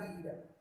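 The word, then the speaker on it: read: तो वर्ब की third form verb क्या है, रीड। तो रीड की थर्ड फॉर्म क्या हो जाएगी, रेड। स्पेलिंग वही रहेगी।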